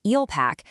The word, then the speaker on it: ELPAC: Today we're diving into the alternate EEL pack, that's pronounced Eel Packac, second scoring process.